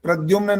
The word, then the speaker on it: प्रद्युमन: चंदा बताए देवा बोलो प्रदुमन हां बिल्कुल ठीक है उच्चारण सुनना था वो उच्चारण ठीक आ गया ये वंदना जी प्रद्युमन नाम है प्रद्युमन प्र के बाद द होता है विद्या वाला बाद में एकदम याद